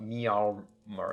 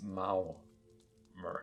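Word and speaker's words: Maormer: give uh an official loremaster announcement that it's mao mer as in chairman mao from uh okay so that so it's it's not me mer it's mao mer or mermer like mayor like m-a-r-e it's not murmur it's maurer yeah so that we do now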